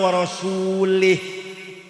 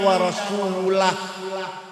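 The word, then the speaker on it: وَرَسُولُهُ: Yang benar bacanya innallaha bari'um minal musyrikina wa rasulah. Allah tidak melindungi orang musyrik dan Rasulullah pun tidak melindungi orang musyrik. Wa rasulah bacanya. Jangan wa rasulih.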